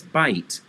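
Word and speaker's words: בית: which is bite bite they had an extra h there because phonetically some jews pronounce the h but the israelis and the ancient hebrews probably did not have an h sound it was just bite so drop the h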